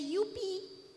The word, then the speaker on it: youpi: We say youpi. Youpi. Voilà, you speak French. Youpi. Okay? There is no yeah, it's UP. It sounds like the state in India, UP.